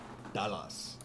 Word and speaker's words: Dallas: But I remember my Afrikaans parents calling Dallas, Dallas. You know, like Ballas, they used to call it Dallas. That is exactly how you pronounce Dallas in Afrikaans.